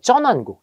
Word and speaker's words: 전환국: 인쇄소를 설치하기도 했고 요거 요건 전환국이라고 읽지 마시고 쩌나국이라고 읽어보세요 쩌난국 전 돈 화폐를 찍는